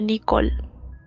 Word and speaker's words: Nichol: Se escribe Nichol, Ni- pero se pronuncia Nicole.